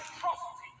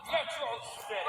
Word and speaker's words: Metro City: This is a day you, as a atrocity, shall not soon forget. It's pronounced Metro City.